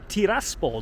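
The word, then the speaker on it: Tiraspol: taspo and hey look I said it right taspo not trisp hey be proud of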